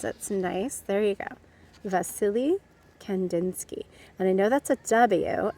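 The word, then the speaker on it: Wassily: but he was russian so w's in russian often make more of a v sound so his name is pronounced vasily like as if there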